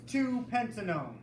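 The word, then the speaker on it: 2-pentanone: o NE e right so ketones end in on that's how we say so if you look at the example on the chart it's two pentanone that's how we say two pentanone Taylor why is it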